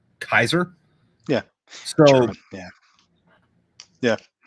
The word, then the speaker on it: Caesar: know yeah and then the way that caesar was actually pronounced was kaiser yeah yeah yeah like